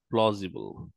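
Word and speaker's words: plausible: detail how continental movement প্লসিবল পসিবল শব্দটার মানে হচ্ছে পসিবল প্লজিবল প্লজিবল উচ্চারণ হচ্ছে পজি মিনিং হচ্ছে পসিবল তো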